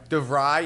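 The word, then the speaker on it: DeVries: Is it Duvray? Stats is helping us. Yes. Stats. DeVry.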